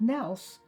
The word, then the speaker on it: Nils: Ollie a-u-l-i-e and again his name was Nils and ILS but they pronounce it Nels so they changed it to an e in my grandmother's name